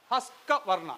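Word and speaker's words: Husqvarna: ഹസ്കവർണ്ണ അല്ലേ?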